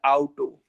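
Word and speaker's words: Auto: तो बैठे ही होंगे, बट जर्मन में ऑटो को प्रोनाउंस कैसे करेंगे? आउटो, आउटो, आउटो।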